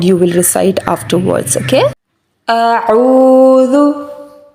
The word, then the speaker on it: أعوذ: So we will pronounce it as a'udhu. A'udhu. And secondly, the letter dal is soft, not hard, right?